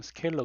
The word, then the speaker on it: 스케일러: 못 들어 떠 라구요 스칼라 가 이제 원래 발음 스케일러 거든요 스케일러 그리고 스케일러 라고 한